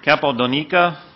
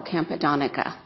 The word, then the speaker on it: Campodonica: Capodonica, followed by Mr. Daniel Kraus. And then finally, last speaker is Karen, I believe it's Chappelle. My name is properly pronounced Campodonica, and I'm from Merced County.